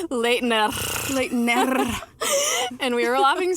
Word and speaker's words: Leitner: Actually, every YouTube video was giving us different ways to say it. And what was the best one, Sarina? Can you do it? Leitner. I was like, Leitner.